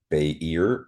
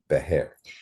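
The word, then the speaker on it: Beithir: It's spelled b e i t h i r, but the two pronunciations are Behir or Or Behair. Behair.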